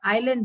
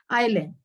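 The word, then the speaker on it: island: टू the near by आइलैंड यहां पर एस जो आपको दिख रहा है वो साइलेंट है आइलैंड बोलते हैं इसको हम आइलैंड इट वास कॉल्ड लिलीपुट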